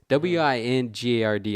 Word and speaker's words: Wingard: It's Wingard. I'm going to just say Wingard, who he describes as smart, lovely, and incredible with actors that actually made him sign up.